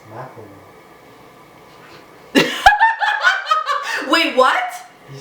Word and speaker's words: Macklemore: It's not Malcolm, it's Macklemore. Wait, what? Did you say Malcolmore? Malcolmore, what's his name? Macklemore. Macklemore? What did I say? Malcolmore? Brandon just told me what I said. What, mister? Malcolmore?